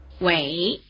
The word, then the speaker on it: Wěi: Táiběi, Táiběi Remember that without the letter I the letter E was pronounced "e". Try repeating the surname. Wěi, Wěi, Wěi Here's the third surname.